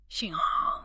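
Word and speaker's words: 香港: In Mandarin, the pronunciation is not Hong Kong. It's Gung Gang. Oh, wow. Xiang Gang.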